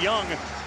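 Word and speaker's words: Jung: It's pronounced Young.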